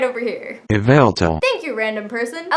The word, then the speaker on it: Yveltal: Yveltal.